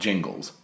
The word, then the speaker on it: Gingles: was decided knows that it is pronounced Jingles because it's spelled Gingles with a G and not a J.